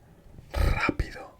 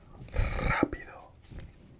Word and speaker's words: rápido: So if the R is at the start of the word, it's rápido, which means quick. Rápido.